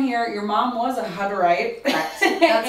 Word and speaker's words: Hutterite: Hutterite.